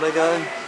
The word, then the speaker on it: Lego: These are made out of Lego, or Lego is the proper pronunciation.